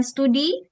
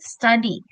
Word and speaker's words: study: Jadi bukan studi. Mungkin biasanya dalam bahasa Indonesia kita sering berbicara studi ya, tapi no, it's wrong. It has to be study.